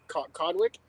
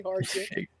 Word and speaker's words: Hardwick: You could really say that last name wrong very easily. It could turn really bad. Harry Codwick? Harry Cock? Oh, don't replace the W with a D in that name.